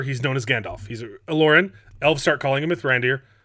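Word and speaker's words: Olórin: It's also how he pronounces it, not Olorin. It's Olorin, not Oloran.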